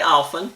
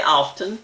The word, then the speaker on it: often: you want to say often say it there are explanations going back to the 1500s as to whether you pronounce the T or not some pronounce the T and some didn't it's just however you